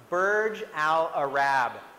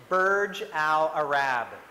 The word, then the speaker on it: Burj Al Arab: or a Rabb and in this name it's pronounced Burj Al Arab can you say that Burj Al Arab great and it is in Dubai is this